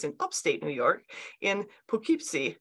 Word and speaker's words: Poughkeepsie: Upstate New York in Poughkeepsie is it pukipsi is that how you pronounce it yeah it's pretty close yeah it's uh yeah